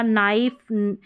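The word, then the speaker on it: knife: तो के एन से शुरू होने वाले शब्द में के का उच्चारण नहीं होता। जैसे कि ये स्पेलिंग्स है। इन सभी में शुरुआत के एन से हो रही है। इसमें के का उच्चारण नहीं होगा। के इसमें साइलेंट रहेगा।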